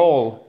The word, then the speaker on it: whole: Whole, and not whole, okay? Whole. Yeah, not whole. You don't want to pronounce the W.